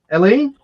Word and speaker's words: Helene: Helene? There's no H.